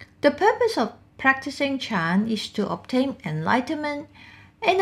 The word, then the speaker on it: Chan: also known as sen this is a japanese pronunciation in china it is pronounced as chan the purpose of practicing chan is to obtain enlightenment